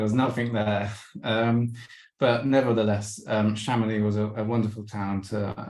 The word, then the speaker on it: Chamonix: Okay, so next up was Chamonix, which I eventually managed to pronounce correctly after being there for a little while. And Chamonix is a lovely little alpine village at the foot of Mont Blanc.